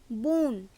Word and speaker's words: bonne: এরপর দেখব 4 নম্বর পয়েন্টটি, যদি কোনো শব্দ ভাওয়েল ই দিয়ে শেষ হয় সেক্ষেত্রে শব্দটি সম্পূর্ণ উচ্চারণ হয় এবং শব্দগুলি স্ত্রীবাচক শব্দ হিসেবে ব্যবহৃত হয়।